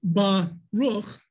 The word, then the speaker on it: Baruch: So Baruch, you hear that? What? Ba, it's a syllable. Ruch is a syllable.